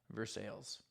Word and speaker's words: Versailles: actually was in versailles kentucky i know it's pronounced versailles pretty much everywhere else but in kentucky versailles we give those elves the recognition they require